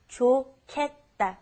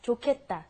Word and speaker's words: 좋겠다: It's pronounced differently than how it's spelled. It's the pronunciation is 좋겠다, 좋겠다.